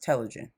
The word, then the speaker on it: telogen: it up and it's saying that it is pronounced telogen so before i get into that let me